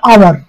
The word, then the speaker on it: hour: An island, an uncle, an আওয়ার, এইচ দিয়ে শব্দটি, কিন্তু এইচের উচ্চারণটা এখানে হচ্ছে না, আওয়ার হচ্ছে, অর্থাৎ অ্যান আওয়ার।